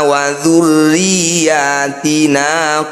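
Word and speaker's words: وَذُرِّيَّاتِنَا: Tanda tasydid atau syiddah. Ini harus dibaca kuat atau ditekan. Wa dzurriyyatina.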